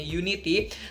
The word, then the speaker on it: UN1TY: group ini adalah Unity atau Unity ini tulisannya UN 1 sama TY gitu ya dibacanya Unity.